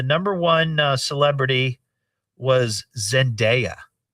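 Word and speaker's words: Zendaya: poll and the number one uh celebrity was Zenaia. Really? Did Did I pronounce that correctly? Yes. Zenaia.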